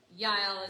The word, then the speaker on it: Yael: So Sisera ends up in this tent of Yael, or jail. Is that how you say it in English? Jail? Anybody know? Anyway, Yael is how you say it in Hebrew.